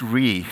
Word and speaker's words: Re: So Swiss Re, different people pronounce the R-E differently. Some pronounce it Swiss Re. It's really Re, quite simply, and that is because it stands for reinsurer, right?